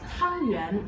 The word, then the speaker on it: 汤圆: The pronunciation of glutinous rice dumplings is Tangyuan, and Tangyuan has a similar pronunciation as 团圆, also known as getting together or reunion, something like that.